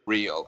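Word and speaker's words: Riehle: I think that's technically how you say it. I always say Richard Reel. I think technically you're right. Like, the German way of saying it is Richard Really, but I think I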